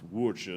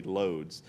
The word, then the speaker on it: Łódź: And again, it's pronounced Łódź or something, but I'm going to say Lodz.